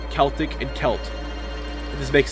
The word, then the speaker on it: Celtic: forms of brain damage it's called Uh Celtic pronounced Celtic very confusing that does make things a